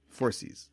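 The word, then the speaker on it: Phorcys: his name uh spelled it's p h o r c Ys oh for yeah yeah yeah yeah four sees four seas okay see there you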